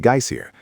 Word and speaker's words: geyser: The geyser, a word the Icelanders pronounced geier, and which signifies fury, rose majestically from its summit.